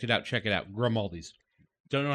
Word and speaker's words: Grimaldi's: Grimaldi's. Don't know how to spell it. Figure it the fuck out. Exactly how it sounds. Like Aldi's. We but like- grim.